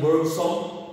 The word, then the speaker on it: Bergson: Ini tulisannya Bergson, tapi bacanya Bergson.